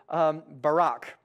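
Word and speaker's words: ברך: And so this next word, Barak, like our former president, Barak.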